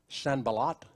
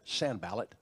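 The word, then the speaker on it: Sanballat: detractors for nehemiah now i've heard different ways to pronounce these names so just everybody ought to give everybody grace sanbalat or others have said sand ballot and tobiah they opposed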